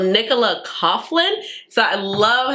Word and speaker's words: Coughlin: And I just really love how she have, I think, Nicola Laughlin. I'm pronouncing her name wrong. But so Nicola Coughlin.